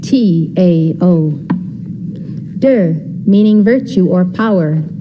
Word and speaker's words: Te: concepts of the book Dao meaning Wei it is spelled t-a-o der meaning virtue or power spelled t e Jing